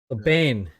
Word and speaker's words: Bane: going to crash sorry is it bane it's pronounced right yeah bane okay bane stay here long enough